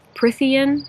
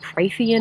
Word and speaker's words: Prythian: book, and we are officially in Prythian. I believe that's how you're supposed to pronounce it. I was asking Roxy because I was saying it Prythian in my head, but Prythian makes more sense just for the flow of the word.